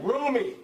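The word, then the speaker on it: Rumi: And it took me two hours of watching YouTube to figure out how to pronounce his name. So I'm not that smart, right? Roomie.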